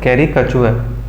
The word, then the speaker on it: caricature: इस वर्ड का सही प्रोनाउंसिएशन होता है caricature।